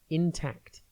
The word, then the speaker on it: intact: tv today's word is intact it is pronounced in tact and it is spelled i n t a c t think in and then tact intact means not damaged or